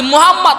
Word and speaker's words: মুহাম্মদ: মুহাম্মদ মুস্তাফা আল্লাহর ভালোবাসায়, মুহাম্মদ এমন একটা নাম, এত সুন্দর একটা নাম যে মুহাম্মদ নামটা উচ্চারণ করলে ঠোঁটে দুইবার চুমু খাওয়া হয়।